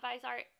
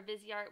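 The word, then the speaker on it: Viseart: wanting to try out visart or vizart whichever way you pronounce it um and you don't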